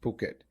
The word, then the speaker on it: Phuket: It's written as Phuket but pronounced Phuket.